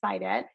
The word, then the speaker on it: Saidat: So my name is spelled like the word said and the word at together. So said at, but the pronunciation is Sidet.